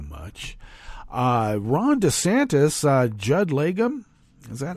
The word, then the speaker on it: Judd Legum: into that too much uh Ron DeSantis uh Judd legum is that how I is that how one pronounces his name let me get back up here it's uh he took yeah Judd legum that was correct I I read the guy